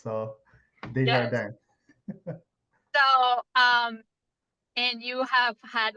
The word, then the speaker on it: Desjardins: The Jardin. Desjardins. Yes, you said it well. It's not an easy name for Anglophones to pronounce. So, Yes. Desjardins.